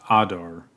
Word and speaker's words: Adar: on Adar Adar Adar it sounds like he is pronounced Adar you can go here